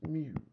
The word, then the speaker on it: mu: You have this is pronounced mu.